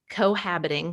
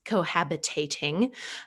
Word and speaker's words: cohabiting: you were saying with cohabiting which by the way i was pronouncing wrong in my head for the last 32 years i thought it was cohabitating um if you do